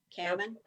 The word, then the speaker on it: Cammann: Cammann. Is that the right way I pronounce it, Georgia? Cammann.